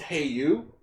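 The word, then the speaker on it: Cei-U: say the magic words which is spelt differently but it's pronounced hey you so irritated says hey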